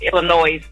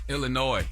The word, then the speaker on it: Illinois: pilot in Illinois I'm from Illinois we don't pronounce Illinois Illinois versus Illinois not Illinois yeah correct I'm sorry